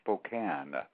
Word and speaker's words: Spokane: for your future information, the town is called Spokane. Ah, Spokane. Thank you very much for correcting me on that. It looks like it's Spokane, but it's actually pronounced Spokane.